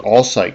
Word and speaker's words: Alsike: Trifolium hybridum, that's known as Alsike, yeah, that's the way you pronounce it, Alsike clover, and Trifolium pratense,